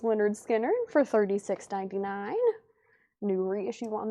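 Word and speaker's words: Lynyrd Skynyrd: Then Leonard Skard, pronounced Leonard Skard for $36.99.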